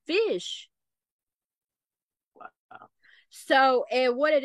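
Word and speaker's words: ghoti: did he come to know that that was pronounced fish because when someone had put it in my chat I said is that pronounced goatee or Gotti and then I'm like let me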